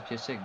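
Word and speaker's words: Piszczek: prénom, ça se prononce pied sec, donc à mon avis, ça peut le faire.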